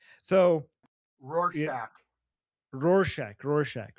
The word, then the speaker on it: Rorschach: Shorshak? Is that how you pronounce his name? Yeah. Oh yeah. So yeah, Rorschach.